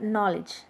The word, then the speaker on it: knowledge: are dye syllabic words look at the word knowledge no lech okay only two syllables are there though the word has got a lengthy spelling okay free term free